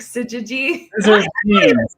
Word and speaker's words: syzygy: The Gnostic syzygy. I'm not saying it right. It's like scissors with jeans, like scissored jeans.